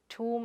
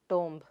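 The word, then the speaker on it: tomb: Taj Mahal is a toom of Mumtaz. It is not tom, but toom.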